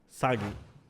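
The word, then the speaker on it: 詐欺: say scam in japanese sagi oh that's easy saggy yeah that's how you remember sagi it's just with him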